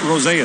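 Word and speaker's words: Rosén: buffalo draft pick and he's asked for the traditional Swedish pronunciation so he's not Isaac Rosen he's he's like rosea when you're back with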